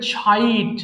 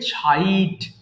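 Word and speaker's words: chide: slip slip এরপরে বলবে চাইড ওকে আমরা চাইড বলতাম সি এইচ যদি এই দুটো লেটার একসাথে দেখো তাহলে অবশ্যই ছ উচ্চারণ করবে হ্যাঁ এটাকে বলবে ছাইড ছাইড ছাইড তিরস্কার করা আবার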